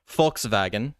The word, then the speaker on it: Volkswagen: the P which literally means people's wagon right Volkswagen is how you say it properly Coca-Cola was